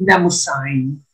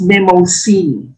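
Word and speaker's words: Mnemosyne: far as its pronunciation is concerned some americans pronounce it namo sign but it's memo c in greek mythology the goddess of memory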